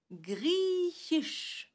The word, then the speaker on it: griechisch: Et maintenant, on va combiner le hi du chat qui souffle au ch qui s'écrit SCH, comme notre ch à nous, dans chien ou dans champagne par exemple. Vous êtes prêts? On va essayer de prononcer le mot griechisch.